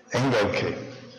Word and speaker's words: Engelke: Dear friends of BIEN, Professor Engelke, am I pronouncing well your name? Engelke. Yeah. Engelke.